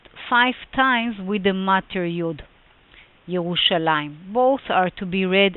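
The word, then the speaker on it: ירושלים: it just right now the pronunciation should be yerushalayim yerushalayim now let's focus first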